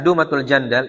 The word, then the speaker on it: Dumatul Jandal: Dan daerah Dumatul Jandal ini ee apa namanya? dengan dhammah. Bacanya dengan dommah dumatul jandal disebut maudi'ruf bariqi syam.